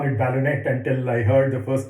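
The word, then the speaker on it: ballonet: both for the envelope as well as the ballonnet. I used to call it ballonnet until I heard the first talk by Professor Pant and recognize it should be pronounced as ballonnet.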